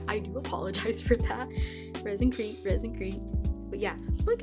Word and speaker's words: ResinCrete: through the whole time I was saying it resin crate when like it's actually resin creete so yeah I do apologize for that resin creete resin creete but yeah